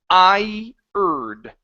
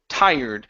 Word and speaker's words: tired: Okay, next here is tired. Okay, so with this word, okay, treat it as two vowel sounds. I-erd. Okay, so tired.